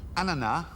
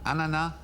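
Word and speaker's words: ananas: Ana, as in the French pronunciation. Yeah. Is a French name for which fruit? Yeah. Ana is a French name for which fruit?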